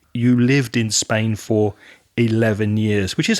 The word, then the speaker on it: Spain: And while we're speaking about pronunciation, just be careful of that vowel sound, Aria, in Spain. It's A, so the same sound as in words like way, stay, and play. So Spain. You lived in Spain for 11 years, which is a long time.